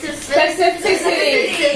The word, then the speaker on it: specificity: Specificity. Write it down. All right, I'm hearing some good pronunciation of it.